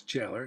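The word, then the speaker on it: Gaelor: It's spelled G-A-E-L-O-R, but it's Jailer, probably the old-fashioned spelling of it.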